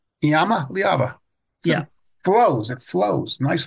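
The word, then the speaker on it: Iamaleava: everybody call him here Yama say it again Yama leava Yama liava yeah flows it flows nice it's close I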